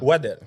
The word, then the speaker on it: Waddel: Comment tu prononces ton nom? Waddle.